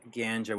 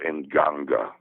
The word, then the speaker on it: In Ganga: You mentioned in an interview recently a band called Metraton Ganga, which is going to be this death metal band that you want to get involved with. Metraton, it's pronounced in Ganga. Ganga. Okay. In Ganga.